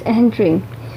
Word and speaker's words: Entrez: search and retrieval system that is called as EHENTRE. EHENTRE, its spelling is ENTREZ, but its pronunciation is EHENTRE.